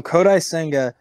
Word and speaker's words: Kodai Senga: his name wrong do you know how to pronounce the guy they signed from Japan kodai senga okay so kodai senga it's career high Innings pitched is 144.